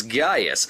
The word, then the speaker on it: Gaius: footage for the film the actors correctly pronounce it as Gaius as in this pre